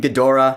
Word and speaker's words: Ghidorah: And yeah, I call him Ghidra. I know in the trailer they called him Ghidorah, but my dad always pronounced it Ghidra, so I'm gonna call him Ghidra. That's just wired in my brain to call him Ghidra.